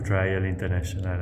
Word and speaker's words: Trial International: Est-ce que Trial International, c'est bien la prononciation? Oui, vous pouvez dire Trial ou Trial International à l'anglaise.